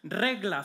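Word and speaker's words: regla: get our Spanish word rega from for those of you who don't know how to speak Spanish the secret to it is you got to roll your RS Church reg there we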